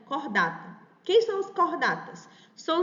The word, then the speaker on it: Chordata: No caso do ursos americanos, o seu filo é o filo cordata, né, que a gente escreve em português chordata, mas é uma palavra em latim, então se pronuncia cordata.